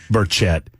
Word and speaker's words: Burchett: Okay, I don't feel so bad about mispronouncing Manu Raju's name because he mispronounced Tim's name. So. Burchett. Burchett.